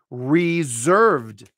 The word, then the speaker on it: reserved: this stuff but me this s becomes a voiced Z and we say this word as reserved so using my naked pronunciation system reserve res Reserve where reserved bum bum re yeah reserved this is how I would say it so this word is pronounced like this two syllables stress on the second syllable reserved notice that's a z that s Bec comes a z reserved and if in